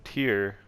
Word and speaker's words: tier: I was pronouncing it tear before, because that's what I thought it was. But no, it's tier.